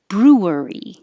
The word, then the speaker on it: brewery: So technically it is 3 syllables, brewery. But you can be a little more lazy and push it together, brewery.